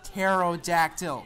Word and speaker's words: pterodactyl: By the way, it's pronounced pterodactyl.